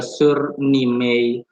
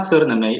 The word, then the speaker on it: Suriname: The Suriname, it's not Suriname. It's not Suriname, it's Suriname. Suriname. It's Suriname, not Suriname.